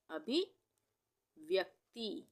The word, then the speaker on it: अभिव्यक्ति: व्यक्ति हम बोल के देखते हैं, व्यक्ति, तो क का उच्चारण आधा हो रहा है तो क इस तरह से आधा बनेगा और यहाँ पे ये पूरा त बनेगा।